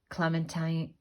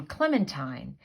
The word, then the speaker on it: Clementine: Her Heart, folk artist Clementine Hunter. Now, I've been pronouncing her name Clementine, but actually, I just realized I've been pronouncing it wrong. It's pronounced Clementine.